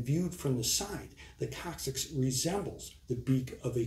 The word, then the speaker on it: coccyx: coccyx is the medical name for the tailbone coccyx is spelled c-o-c-c-y-x the coccyx consists of three to